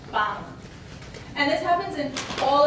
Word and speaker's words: pan: So if we take the word bread, I don't have it here, but pan, bread, it would sound more like pan, See, pan versus pan.